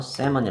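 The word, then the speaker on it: salmon: 대서양의 3 많이 연어의 요건 le 묵음 이에요 그래서 셀 뭐니 라고 발음합니다 얘는 그리고 조심해야 돼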